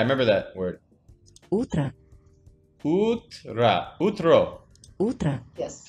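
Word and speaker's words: утро: Utra. Yeah, I remember that word. Utra. Utra. Utro. Utra. Yes. How come it's pronounced utra? There's an O. Sometimes we can, like, pronounce like A, not like O.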